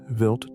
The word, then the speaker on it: Wild: Stardust's target was Comet Wild 2, pronounced Vilt 2, a Jupiter family comet with an orbital period of about 6 years.